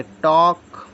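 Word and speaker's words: talk: एल के टी ए एल के इसको बोलेंगे टॉक डब्लू ए एल के इसको बोले वक एफ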